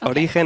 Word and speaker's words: Origen: us what to say well both ways are fine origen is how you say in spanish so you actually say like if you were a spanish person but origin is how you will say it if you are not a spanish speaker you say